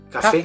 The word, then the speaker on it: café: Yeah, because it's a French word. Okay? Okay. That's why. Okay. ¿Cómo se pronuncia? The pronunciation is café.